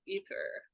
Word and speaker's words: aether: with the element aether the seamless unspeakable aether or ether however you want to pronounce it both are correct and then we have